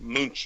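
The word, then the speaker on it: Munck: on pyramids is and he's totally vetted Carl Munch or I don't know Monk. How do you pronounce his name? Do you know Gigi who I'm talking about? Wait, who? Carl Monk or. Monk.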